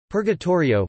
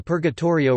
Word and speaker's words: Purgatorio: Purgatorio, pronounced P-U-R-T-R-J-O, Italian for purgatory, is the second part of Dante's Divine Comedy, following the Inferno, and preceding the Paradiso.